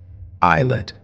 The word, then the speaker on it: islet: Islet. Here S is silent.